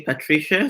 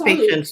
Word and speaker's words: Patience: different things and so i heard you say patricia so i just wanted to say my name is patience and the goomba part